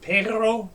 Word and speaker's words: perro: don't hear a growl now if you've had any Spanish you know how to pronounce the word for dog perro perro say that a few times perro pero it's rolling the the uvula in the back of your throat it's like like gargling that's how you get